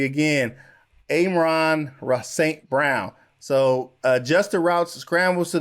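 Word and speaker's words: Amon-Ra St. Brown: uh let me say his name correctly again amron saint brown so adjuster routes scrambles to the open when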